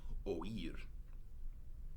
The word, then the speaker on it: oír: So, for instance, the verb to hear, oír, is two syllables because we put that accent over the e to make it a strong vowel.